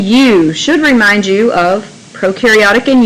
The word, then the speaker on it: prokaryotic: should remind you of prokaryotic and eukaryotic pro rhymes with no and so when we think prokaryotic we think no nucleus and you rhymes